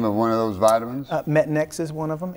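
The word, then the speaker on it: Metanx: Metanex is one of them. It's a prescription, it's not over the counter. Pronounce that again. Metanex.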